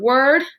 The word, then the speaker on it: word: r say tricky word word awesome remember that tricky part is that it makes an r sound but it's spelled o r think of a sentence